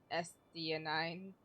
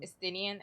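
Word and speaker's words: Estinien: Oh yeah, I forgot the dragoon's name is Estionine. That's not how you say it. Estinian.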